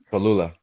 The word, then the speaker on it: Cholula: Cholula.